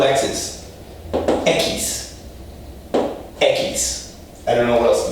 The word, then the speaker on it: equis: Well, that beer is Dos Equis, 2 X's, Equis.